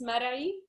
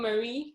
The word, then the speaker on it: Marai: Okay, so in Arabic it's pronounced Marai, but my non-Arabic speaker friends, they just call me Marie, so I'm fine with Marie. Okay. There's a specific letter that non-Arabic speakers will not be able to pronounce it clearly because it comes right from the throat.